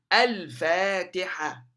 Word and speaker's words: الفاتحة: حينما تبدأ اللام حينما تأتي الأل مع الفاء، ألف، الفاء، الفاء، الفاء. هنا اللام تنطق. تبقى كما هي. stays as it is. فا تحرك، والحركة هنا فاتحة. الفاء، الفاتحة، الفاتحة.